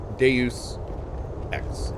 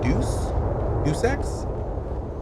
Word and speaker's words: Deus Ex: it down our staircase is it pronounced deus ex yes it is well some people pre i pre i say it's deus ex deuce x some people say it's deuce you sex i don't think so i think deuce has